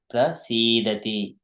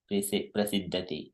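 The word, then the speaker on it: prasīdati: So there is sometimes prasidati is the prasidati, not prasiddati. This is sometimes the pronunciation goes differently.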